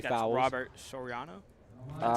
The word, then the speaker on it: Soriano: Robert Soriano.